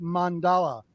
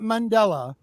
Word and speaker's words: mandala: constantly and i go no it's pronounced mandala not mandela people saying mandela they're saying the wrong name just so did you